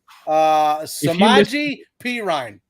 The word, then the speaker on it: Samaje Perine: Samaje Perine.